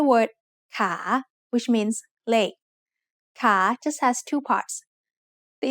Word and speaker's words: ขา: The initial consonant is ขอไข่ and it has the long vowel สระอา So once again, a high-class consonant with a live syllable ending results in a rising tone.